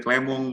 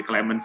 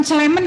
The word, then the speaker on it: Clemens: Kalau saya lagi posting di Perancis, biasanya saya dipanggil Clemong, Bu. Tapi karena ini lagi di Indonesia, apalagi di Pekalongan, panggil Clemens saja nggak apa-apa, Bu. Oh, bukan Clement ya, Clement ya. Ini harus Clemens, Ibu. Benar tadi? Pelafalannya tadi sudah benar itu.